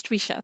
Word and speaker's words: Twisha: Have I pronounced it Visha right, or have I? Sure, it's Twisha.